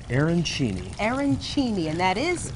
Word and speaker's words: arancini: Pronounce it for me again. It's called Arancini.